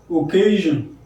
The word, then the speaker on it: occasion: another example just to occasion occasion occasion at three syllables k is stressed now in the dictionary